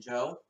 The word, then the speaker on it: Job: there's this narration problem job I know it's pronounced Joe but I like to pronounce a job cuz that's how it supposed to be pronounced